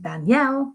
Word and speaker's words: Danielle: In Danielle, it's the L.